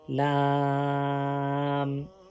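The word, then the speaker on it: لام: For pronouncing lamb, touch the corner of tongue with the base or gums of three front teeth and first mer which is along them. From here you can pronounce lamb.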